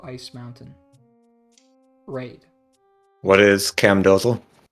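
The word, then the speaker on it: Camdozaal: What is cam do? Correct. Cam dozal. Weird pronunciation. How would you What's What's the How do the natives say it? Camdazole.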